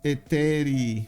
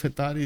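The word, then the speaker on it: Hetairoi: Now, also, it is pronounced Eteri. Just so you know, I am Greek, and it always gets butchered. That and Strategos are my kryptonite. Oh, wait, really? Eteri? Oh, you mean Hetari? Instead of Hetari, it's Eteri. Okay, it's silent H.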